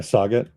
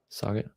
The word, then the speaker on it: Saget: 10,720 pounds of it though were transported to Viola Environmental Services in Saget, Illinois. Did I pronounce that right? Yeah. Saget. Saget.